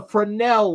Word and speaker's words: Fresnel: know this is written backwards but this is f r e s n e l have you ever heard of a fresnel lens okay that's how it's pronounced is called fresnel lens I want you